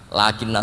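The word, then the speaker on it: لكن: Tidak adanya alif tetap mat itu mirip dengan dalika lakinna. Sama nulis lakinna, lam kaf nun, bacanya apa? Lakin.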